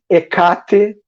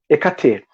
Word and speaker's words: Hecate: Bom, a deusa Hecate, Hecate. As três pronúncias estão corretas, tá? Então, essa deusa, o que me chamou a atenção, porque assim, eu particularmente não ouvia falar da deusa Hecate, mas não, eu falo Hecate, tá, gente?